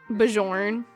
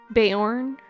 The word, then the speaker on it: Bjorn: Bjorn. I pronounce the B though, but I do say Yorn at the end.